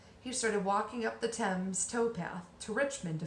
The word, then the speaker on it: Thames: a very famous river in London and it's pronounced 10 but it's spelled th a.m. es it's very strange and that's the river 10 the tide was coming in the river surged